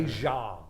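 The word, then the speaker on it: zheng: this was a moment this is a jang which is the Forerunner a jang z h n g is how it's spelled phonetically um it's the Forerunner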